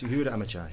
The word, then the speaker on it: Yehuda Amichai: It's by Yehuda Amichai. Yep. Have I pronounced that right? Yeah, Amichai, yes. Yehuda Amichai.